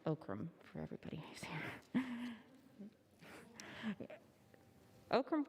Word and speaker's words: OCRM: office of Capital Access ocrm pronounced oakam for everybody who's here